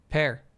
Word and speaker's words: Pier: All right, so chat says because Pier Schneider's Twitter profile says pronounced Pear emoji that it should be pronounced Pair Pear Schneider.